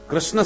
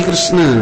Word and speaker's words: कृष्ण: बोल ना पावे बिचारे कृष्ण शब्द का शुद्ध उच्चारण सब लोग नहीं कर पाते किशन बोलेंगे किशन भारत का प्रसिद्ध शहर